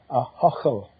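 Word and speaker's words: Ahoghill: in the town of Ahochel. I don't expect everyone to be able to pronounce that name, A-H-O-G-H-I-L-L, Ahochel.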